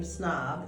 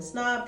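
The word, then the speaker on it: Psnob: under my brand name snob it's spelled PSN o the p is silent so I'm on IG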